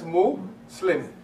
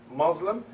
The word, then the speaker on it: Muslim: we say mo Islam we put them together that's Mo slim that's the word Muslim and it's not Muslim as a lot of people pronounce it because the ones that propagated this word Muslim they actually did it